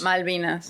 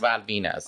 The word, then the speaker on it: Malvinas: Malvinas. Malvinas.